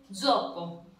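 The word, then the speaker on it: zoppo: इसको इसको इसको ऐसे लिखा जाएगा तेजोपो, लेकिन इसमें तय साइलेंट करेंगे, तय को साइलेंट करके बोलेंगे जोपो।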